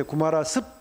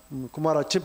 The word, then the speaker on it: 구마라집: 이 글자를 즙이라고 읽기도 하고 집이라고 읽기도 하는데 원래 이름이 이제 이서양 말로 하면 구마라집바거든요. 그래서 지금 구마라집이라고 쓰는 게 요즘 일반적입니다. 예전에 작품이 이제 구마라습, 구마라집 이렇게 쓰기도 했을 겁니다.